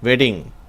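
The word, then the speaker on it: wedding: இங்கே 2 டி வந்திருக்கின்றனால அதை அழுத்தி வெட்டிங்னு உச்சரிக்கக்கூடாது. எப்பயுமே ஆங்கிலத்தில் இந்த மெய்யெழுத்துக்கள் ரெண்டு ஒன்றா சேர்ந்து வந்தால் அதை ஒரு எழுத்து போல தான் உச்சரிக்கணும். கான்சனன்ட் லெட்டர்ஸ், டபுள் கான்சனன்ட் லெட்டர்ஸை நம்ம ஒரே ஒரு சிங்கிள் கான்சனன்ட் மாதிரி தான் உச்சரிக்கணும். அதனால் அதை நம்ம வெட்டிங் அப்படின்னு சொல்லணுமே ஒழிய வெட்டிங் அப்படின்னு அழுத்தி உச்சரிக்க தேவையில்லை.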